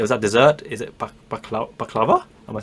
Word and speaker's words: baklava: Is it baklava?